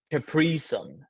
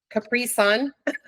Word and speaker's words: Capri Sun: here's the last one my wife always jokes with me I always say it wrong capricon Capri Sun you know which one